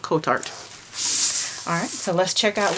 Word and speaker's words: Kotart: little design up there I asked them how to pronounce that because I've heard a couple of people say it different ways but for today we're gonna go with coat art alright so let's check